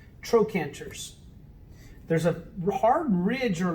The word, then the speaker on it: trochanters: that are called trochanters it's spelled with a ch but it's pronounced like a k trochanters there's a hard ridge